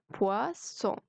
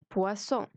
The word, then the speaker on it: poisson: الاو اي بتتنطق و، يبقى اسمها poisson poisson.